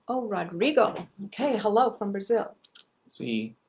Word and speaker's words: Rodrigo: How do you pronounce his name? Rodrigo. Oh, Rodrigo.